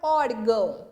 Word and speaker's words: órgão: Então, é o or, que é pronunciado com mais tonicidade.